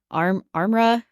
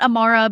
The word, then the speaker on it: Armra: Armra. This is what we've been calling it. It's called like, it's not Amara because there's no A in the middle of it, but whatever.